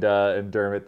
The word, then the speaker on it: Dermott: It's just Dermott, not McDermott.